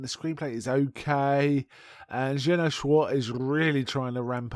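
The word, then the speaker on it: Jeannot Szwarc: And I finally looked up how to pronounce his name because I was never that sure. Jenna Schwartz is how I understand it said.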